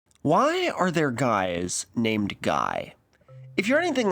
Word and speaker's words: Guy: The Italian form is Guido, and naming people Guy, pronounced Guy, is also a lot more common in French-speaking countries.